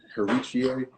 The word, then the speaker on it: Heritier: His name is Heritie Lumumba. His name is spelled Heritier, and I probably butchered it because I usually just call him Lumumba.